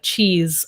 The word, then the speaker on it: cheese: But often when a word ends in E, S-E, we pronounce it like a Z, like cheese or these, right? If it just ends in S or C-E, then that's S.